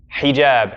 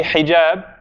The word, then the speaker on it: hijab: When we say hijab, is it a short vowel or a long vowel in between the ha and the ja? Hijab. Hijab. Right? We feel. Compare the two syllables. Hijab. Hijab. Short, long. Short, long.